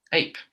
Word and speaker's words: ape: Ape. It's the same pattern. Yeah, ape. So it's there's a silent E. So you pronounce the name of the vowel.